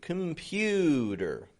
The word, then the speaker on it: computer: Which is the stressed syllable? The middle. The pew. Pew. Computer. The C-O-M isn't getting a com. It's getting just a kum. Kum. There's a schwa in there. Instead of a regular O. Com. Just a kum. Pewter. And then a schwa R ending.